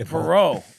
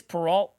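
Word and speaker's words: Peralta: It is Peralt. It is Peralt. I don't know why I keep saying Perau because it just it sounds like you know French.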